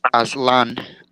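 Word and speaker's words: Aztlan: No, it's pronounced Aslan.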